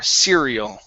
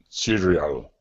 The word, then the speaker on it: cereal: of saying Cal okay a good R cereal cereal good so forgot about my